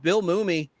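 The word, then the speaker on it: Mumy: And it's Bill Mum, not Mummy. A lot of people call him Mummy. And that's okay. It's Mumie. It mu m It's one M, not two. Mummy.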